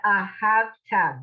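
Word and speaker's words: וְאָהַבְתָּ: The ahavta. Good. Does everybody see Ahavta. that? You can't swallow up the syllables. Right. Ahav. Oh, hey, it means love. So you got to get all those syllables in.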